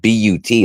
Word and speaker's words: but: You're thinking of butt, pronounced like boot.